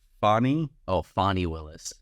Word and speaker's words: Fani: funny name it is I think technically it's pronounced Bonnie oh fonnie Willis it's F ni and it's Georgia French